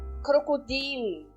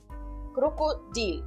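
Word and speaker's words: Krokodil: daí né próxima palavra crocodil então vejam eu sempre dou entonação no i naquela vogal onde tem o i crocodil que significa no português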